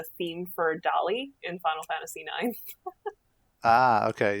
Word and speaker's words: Dali: Now I get it. Dali, not Dolly. The village of Dali.